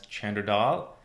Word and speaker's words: Chander Dhall: is Chander Dhall, commonly pronounced as Chander Dhall.